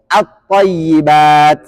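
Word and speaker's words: الطيبات: Nanti al ketemu dengan thayyibatu bacanya at-ta. Jadi at-thayyibat.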